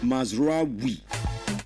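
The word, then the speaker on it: Mazraoui: Now the proper pronunciation of the name is Mazrai.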